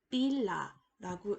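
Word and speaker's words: पीला: 그러면 합쳐서 읽으면 빌라라고 읽을 수가 있겠고요.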